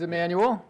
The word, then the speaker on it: Emmanuel: done that thank you my name is Emmanuel rhymes with Nathaniel and I just had